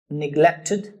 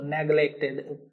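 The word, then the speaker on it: neglected: एक तो निग्लेक्टेड का प्रोनाउंसिएशन ध्यान रखना, ये आप नेग्लेक्ट तो नहीं बोलते ना इसको, नेग्लेक्टेड पता नहीं क्या क्या बोलते होंगे आप। इट्स निग्लेक्टेड, निग्लेक्टेड ऐसे है।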